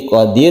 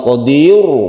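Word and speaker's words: قادر: kemudian yang perlu diperhatikan karena ro ini bersyukur dan sebelumnya itu adalah kasrah maka roknya ini dibaca tipis atau tarqiq jadi membacanya jadi Qadir bukan Qodir Bukan tapi Qodir bibir kita di kebawahkan ini karena roknya sebelumnya ada kasrah maka ini ditipiskan roknya kita ulangi dari depan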